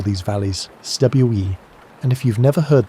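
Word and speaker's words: cwm: The Welsh call these valleys stwe. And if you've never heard that word pronounced properly, you're missing out on one of the languages most satisfying sounds. It rhymes with boom, but starts with a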